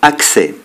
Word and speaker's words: accès: c'est le s final exemple accès accès progrès donc nous sommes ici avec ds qui ne sont pas prononcés mais c'est possible également avec